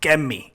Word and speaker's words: Kermit: Which, by the way, Kermit, that's not a very Hispanic name, if I'm not correct. No, not at all. But they pronounce it Kemi. So they totally just skip over the IT part.